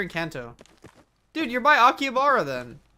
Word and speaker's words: Akihabara: Dude, you're by Akihabara then. Akihabara. I always say that wrong. The right emphasis on syllables is difficult.